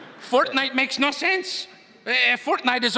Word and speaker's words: Fortnite: That's a fork knife reference. Did you say fork knife? It's actually pronounced Fortnite. No, I don't think so.